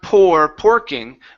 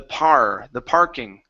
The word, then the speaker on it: parking: Not porking, but R. Open the mouth a little bit more. The parking.